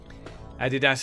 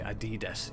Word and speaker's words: Adidas: Adidas is how we all say it in the UK, to be honest. In America and elsewhere seem to be Adidas. Yeah. No right way to say it, I think.